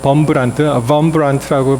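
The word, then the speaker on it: Wurmbrand: 이게 사실은 이 루마니아 출신 목사님이신데 이 독일어 계통에서는 이 W를 V로 발음합니다. 그래서 여기서는 그냥 원브란트라고 되어 있는데 어떤 데 보시면 범브란트라고 발음도 하고 이 D가 이제 T 발음이 납니다.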